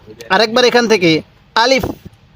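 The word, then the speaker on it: ألف: হরফটির নাম হলো আলিফ আরেকবার বলুন আলিফ আলিফ টান দিবেন না আলিফ এরকম ভাবে শিখবেন এরপরে বলবেন এই হরফটির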